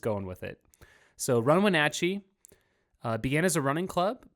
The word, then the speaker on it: Wenatchee: It's like Snatch for the Natch part.